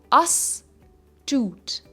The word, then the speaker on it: astute: it is pronounced as us Toot asot It is a two syllable word with a stress on the second syllable aute now this is